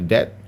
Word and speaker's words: debt: So remember how to pronounce the debt not the not not the EB depth. Uh you just uh you have to silent the B then you just said that.